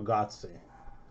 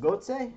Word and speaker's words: Götze: Mario Götze.